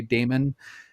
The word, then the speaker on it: daemon: term daemon it can it can sometimes be pronounced demon as well but so we're clear to people which one we're talking about i'm going to say damon so when i say